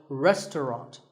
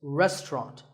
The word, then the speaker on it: restaurant: fancy spelling confuse you the second syllable is just ton and the third is wrought so restaurant in British English you might hear just two syllables restaurant that is also correct after you eat at